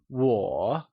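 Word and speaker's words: 我: or me translates to war and it is pronounced using a falling rising tone let's try and say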